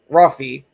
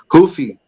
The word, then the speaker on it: Ruffy: Wow, I can't even pronounce it. Marcio Ruffy. Hoofy.